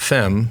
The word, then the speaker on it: Femme: looking at in fact it rhymes with Wham slam thank you ma'am that's what he says